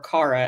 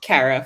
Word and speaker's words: Kara: Like Kara did not exist in the comics, or Kara as the TV show decided to pronounce it, and the movie follows suit, which I've been pronouncing it Kara for so much longer.